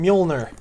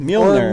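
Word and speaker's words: Mjölnir: How do you pronounce his hammer again? Mjolnir. The Mjolnir.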